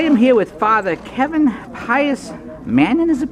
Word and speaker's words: Manion: Okay, I am here with Father Kevin Manion, is it pronounced?